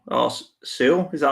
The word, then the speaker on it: Sewell: The Bengals are going to take Penei Sewell or Sewell.